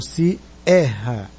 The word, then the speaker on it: Sierra: Então a pronúncia mais forte é o E do Sierra.